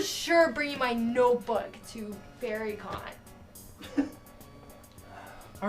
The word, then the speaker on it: FairyCon: It's called FairyCon, but it's spelled Faerie.